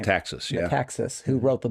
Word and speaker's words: Metaxas: Metaxas, yeah.